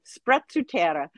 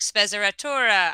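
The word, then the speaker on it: sprezzatura: to the storytellers microphone you were the first person i've ever spoken to that that pronounced that word correctly in italian everybody's like special torah i mean it just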